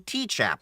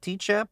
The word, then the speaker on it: Tchap: Is it TCHAP or CHAP? I think it's just CHAP. The T is silent.